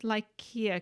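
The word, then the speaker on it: LICIA: a brilliant acronym well I'll tell you what it stands for first because I think that gives you some hints the pronunciation uh it's the light Italian Cube set for Imaging of asteroids nice nice okay yeah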